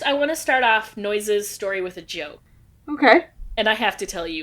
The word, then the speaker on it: Noyes: of John Humphrey Noyes bring in the noise they're bringing the funk it's spelled differently though but yeah okay oh is it n-o-y-e-s correct yeah there's a l-stop in Evanston with that same spelling n-o-y-e-s noise yeah first I want